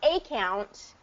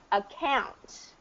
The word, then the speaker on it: account: It's not a count. It's account. Because the stress is not on the A at the beginning, it's going to get a reduced pronunciation, which is typically account, appreciate.